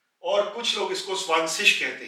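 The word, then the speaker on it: zwanzig: Apply करते हैं और ये बन जाएगा स्वानसिश, स्वानसिश, यानी कि 2 की आवाज स्वान में कन्वर्ट हो जाएगी और 0 का हम सिश कह देंगे, स्वानसिश, स्वानसिश। यहां पे एक चीज का ख्याल रखें, जर्मनी में कुछ लोग इसको स्वानसिक कहते हैं, यानी कि सिक की आवाज स्वानसिक, और कुछ लोग इसको स्वानसिश कहते हैं।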